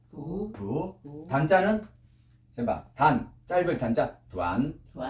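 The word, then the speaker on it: 短: 짧을 단자 두안.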